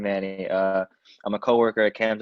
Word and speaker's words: Manni: it's like the first name, Manny.